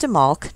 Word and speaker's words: Imbolc: It is pronounced Imbolc, not Imbolc. And for that, I have the authority of all of the books in my bookcase behind me. Whenever one of the books makes a point to specify the pronunciation, it's always stated that the B is actually silent and that it is Imbolc.